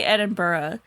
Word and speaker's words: Edinburgh: to say NB or oh it's spelled different but I think it is supposed to be edur it's spelled it's spelled like Ed and burra but there it's B Ur g h no there's no o with oh okay cuz